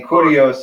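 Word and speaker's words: κύριος: And then kurios is on the first syllable.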